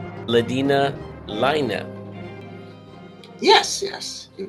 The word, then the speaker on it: Laine: ladina Lina yes yes you pronounced it correctly most people say Lane that is absolutely what I was saying I